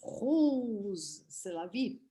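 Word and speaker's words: Rrose Sélavy: Quando nós pronunciamos esse nome, que se escreve com 2 R's, Rose Sélavy, nós nos aproximamos um pouquinho do que é a pronúncia de uma frase na língua francesa.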